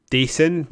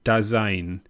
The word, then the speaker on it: Dasein: part being announced as Dasein. No, sorry, it's a German word and it's pronounced Dasein.